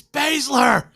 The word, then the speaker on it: Baszler: It's Baszler. He always says he pronounces everything correctly, so I just assume that he's right.